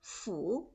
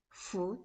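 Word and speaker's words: 福: couplers on the front gate the chinese character foo is a must it means fortune or blessing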